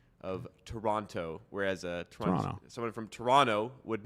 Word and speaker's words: Toronto: Toronto, whereas someone from Toronto would not. Yeah. And he does not pronounce it, so it's a little interesting. T is silent, just like in Jason. The T is silent.